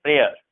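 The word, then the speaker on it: prayer: इसे हम पढ़ते हैं प्रेयर, मेयर, ठीक है ना। य वाई जो होता है साइलेंट होता है इसमें, मेयर इसे पढ़ा जाता है, मेयर। ओ आता है, य नहीं आता इसमें, मेयर, प्रेयर।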